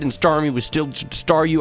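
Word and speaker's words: Staryu: star me was still staru. I can never pronounce his name right. It always ended up sounding like saw you.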